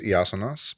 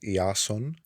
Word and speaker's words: Iason: for the first time so my name is yasas but for those who cannot pronounce that it's Jason or that's well we're going